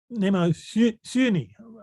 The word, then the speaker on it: Mnemosyne: I was talking about Mnemosyne or Mnemosyne. How did you say it, Hercules? Mnemosyne. Mnemosyne. How Apollonius, how would you say Mnemosyne? Mnemosyne, more of an umlauted U for the Mnemosyne.